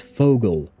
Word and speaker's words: Vogel: Vogel is German for bird, and we do pronounce that Vogel.